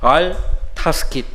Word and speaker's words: 알타스킷: 1절 오 하나님이여 악장에게 알타스킷 알타스킷은 알타스킷 이렇게 발음을 해요. 알타스킷. 예.